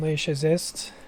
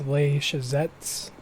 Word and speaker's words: Les Chazets: we are back on Le shist I'm pretty sure I've been saying it wrong um I think it's Le shet so TS not St yeah today we're going